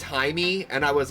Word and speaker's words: Jaime: It's pronounced Jaime since it's Hispanic.